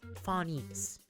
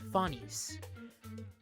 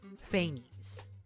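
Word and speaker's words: Phanes: So for those who don't know, the original uh Greek pronunciation is fines. It's fines. In Nicole's trailer, it's fain. That's more of the slightly Greek/English pronunciation.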